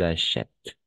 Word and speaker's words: achètent: acheté il ou elles achètent à la fin on le prononce jamais n'est-ce pas voilà comprer